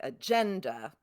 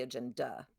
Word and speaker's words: agenda: we have words like we have a word like agenda where it's second. That's that second to last syllable. We don't say agenda or agenda, right? Or agenda, right? Which definitely sounds more like a name or a disease.